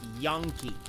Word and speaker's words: Yankee: they pronounce it is Yony it's y a n k e y y a n k e but the way it's pronounced in Spanish it actually sounds like yon like yah instead of yay Yankee it's Yony yeah